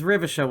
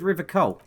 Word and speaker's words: Revachol: He pronounces Revachol with a hard K, unlike other people. He said Revachol.